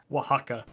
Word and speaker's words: Oaxaca: i do apologize but i did get oaxaca right it's the one thing oaxaca there's it's funny actually there's a chain there's a mexican restaurant chain over here called oaxaca and it is spelled w-a-h-a-c-a cha slip that one